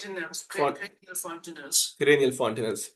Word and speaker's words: fontanelles: Is that how we pronounce? Fontanelles.